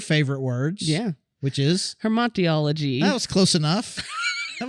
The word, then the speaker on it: hamartiology: I feel like you're kind of swallowing it. It's Hamartiology. Hamartiology. There's only one R. Hamartiology. Yeah, I could tell you're kind of like swallowing some of the syllables in there because you're hamartiology.